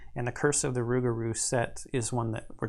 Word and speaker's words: Rougarou: If Lady Esprit was right, this Rougarou, and it's spelled differently here, maybe to help you pronounce it. The roux here is spelled like cooking roux. The Rougarou wouldn't stop killing at 3, that's for sure.